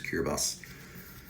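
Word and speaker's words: Kiribati: Looks like Kira, but I'm pretty sure the pronunciation is Kirabas.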